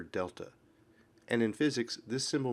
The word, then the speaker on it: delta: is the symbol for displacement and it is pronounced Delta if the displacement is in the vertical direction